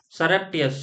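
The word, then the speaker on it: surreptitious: सरेप्टियस।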